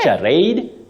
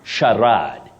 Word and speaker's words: charade: is a consonant diagraph C and H they combine to form the sound sh not and not you say Shad Shad not charade not Kade uh-huh Sharad Sharad that's a surprise